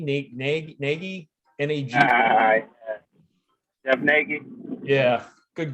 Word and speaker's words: Nagy: Yeah, Lance, I was just reffing one of, I don't know if you remember, Jeff, I believe his last name is pronounced Nagy, Nagy, N-A-G.